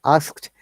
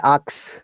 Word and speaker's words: asked: both we have done nail down that perfect sound it is again t sound asked sometimes people say ax i'm sorry it is not aks they pronounce like this other way around well done so